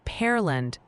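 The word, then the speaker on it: Pearland: Oh, and Professor Chat wants you to know it's pronounced Perland, Texas, like the fruit and jalo, New Mexico rhymes with pal.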